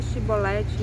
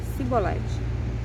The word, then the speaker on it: Shibolete: Então lhe dizia: diga Shibolete, e ele dizia Sibolete, porque não sabia pronunciá-lo bem.